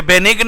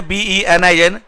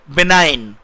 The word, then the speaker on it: benign: BENIGN, ये बेनिग्न नहीं है, इसका उच्चारण ध्यान सुनिए, BENIN, बेनाइन। BENIGN का उच्चारण होता है, प्रोनाउंसिएशन होती है बेनाइन।